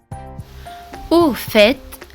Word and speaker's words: au fait: Au fait, le T à la fin se prononce aussi.